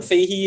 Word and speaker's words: Fahey: Fahey.